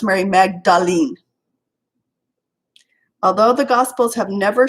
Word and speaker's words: Mary Magdalene: Okay, now Mary Magdalene is pronounced Mary Magdalene.